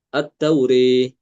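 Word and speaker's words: التوراة: Kalau kita jumpai lafadz At-Taurah di dalam Al-Quran, maka Imam Al-Kisai membaca dengan mengimalahkan alif ya, setelah ro itu. At-Tauri, bacanya demikian.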